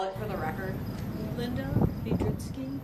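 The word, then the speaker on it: Lynda Biedrzycki: seated could you please state your name and spell it for the record Linda vitki l y n d a b i e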